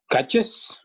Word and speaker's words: catches: Catch ends with ch, which is one of our buzzing sibilant sounds. So we need to add the syllable is onto it.